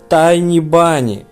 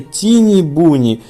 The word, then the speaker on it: Tiny Bunny: Правильно будет Tiny Bunny, но никак не Тини Буни.